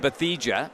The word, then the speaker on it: Bathija: how do you say your last name? Bathija. Bash- Bathija. Yeah. Bathija? That's correct.